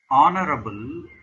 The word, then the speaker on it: honorable: Honorable, even though the word starts with H, which is not a vowel, it's a consonant, but H remains silent there.